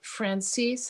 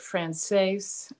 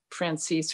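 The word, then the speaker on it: Franzese: Well, I pronounce it Francis. I've heard it Frances. He pronounced it Francis or Frances. Francis.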